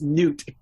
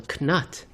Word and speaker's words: Knut: angry comments from Scandinavians because I think it's Newt. Oh, geez. That's okay. Well, I was going to say pronunciations.